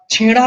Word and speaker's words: ছেঁড়া: উচ্চারণের দিক থেকে যদি আমি বলি, তাহলে তোমার ছেঁড়া শব্দটি একেবারে চন্দ্রবিন্দু আমরা আনতে পারি না, আনতে হবে তো, পুঁই লতাটা আনতে হবে তো।